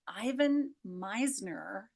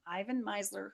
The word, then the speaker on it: Ivan Misner: It comes from Ivan Misner, I believe is how you pronounce his name, Ivan Misner, who is the founder of BNI, Business Network International, the biggest networking company in the world.